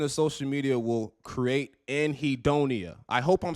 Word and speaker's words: anhedonia: Anhedonia.